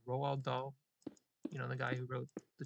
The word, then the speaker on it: Roald Dahl: How do you pronounce his name? Roald Dahl.